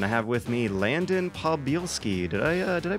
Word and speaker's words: Podbielski: My name is and I have with me Landon Podbielski. Did I pronounce that right?